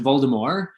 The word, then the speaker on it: Voldemort: So the author has said that it should be pronounced Voldemort because that resembles the French phrase Voldemort, which means flight of death, or perhaps thief or stealing of death.